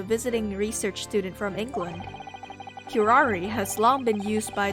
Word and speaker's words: curare: Is it actually Kurar or is it Curare or something? Curari. Curari. It's actually Curari.